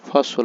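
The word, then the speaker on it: fossil: জ্বালানো আর ফসল ফিউলস ফসল উচ্চারণ হবে ফসল ফিউলস মানে জীবাস্য ফিউলস জীবাস্য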